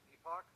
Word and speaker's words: epoch: How did you pronounce it again? Epoch. Epoch. I think that's a better way to let people know that you're saying you're not saying epic.